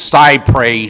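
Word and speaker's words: cy pres: emphasize to the outset i have heard many people i respect pronounce it psy pray that is technically not accurate it comes from a french phrase that begins with the words but it's a legal phrase in america and it's side prey here yeah well that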